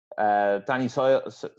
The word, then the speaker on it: Ceballos: Danny Ceballos, was that how you say his name?